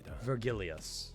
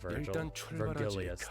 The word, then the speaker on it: Vergilius: It's fucking Vergilius. That's kind of how he pronounced it.